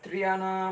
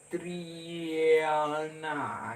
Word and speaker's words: Triana: Sebab dia setelah I ada huruf E kan. Setelah E disambut dengan huruf A. Jadi Triana gitu.